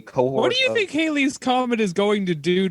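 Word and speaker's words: Hailie: It's Hallie. Oh, no, it's Haley. Okay, it's spelled, looks kind of like Hallie, but it is Haley.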